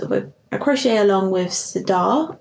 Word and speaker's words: Sirdar: a crochet along with sadar I think that's how you pronounce it s-i-r-d-a-r and um they're still